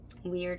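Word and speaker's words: Wyrd: Weird is how you pronounce it.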